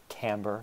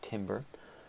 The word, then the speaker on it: timbre: last characteristic is timbre that word t-i-m-b-r-e is pronounced camber not timber this is the quality